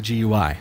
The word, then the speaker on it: GUI: with your Start menu gonna get somebody saying you said it wrong it's gooey so here on a server